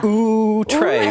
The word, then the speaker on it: Outré: So one, thank you for pronouncing it correctly. And I'm wearing the shirt. Yeah. Outré.